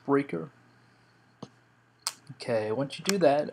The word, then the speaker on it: Spreaker: You can see I got the email verification there from Sp uh Spreaker and it is pronounced Spreaker.